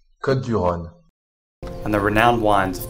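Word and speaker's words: Côtes-du-Rhône: Côte-du-Rhône. Côte-du-Rhône. And the renowned wines of Côte-du-Rhône.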